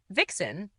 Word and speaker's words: vixen: Vixen is one of very few modern English words that retain the Middle English Southern dialectal V pronunciation instead of F, i.e. Northern English fox versus Southern English vox.